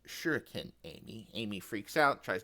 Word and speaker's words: shuriken: Now Espo being the ninja weeb that he is pops up out of nowhere and says actually it's pronounced shuriken Amy.